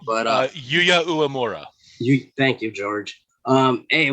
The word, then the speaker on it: Uemura: We got Kenny King taking on Yuya Umera. Umera? I'm really bad at pronouncing these names, but Yuya Uemura.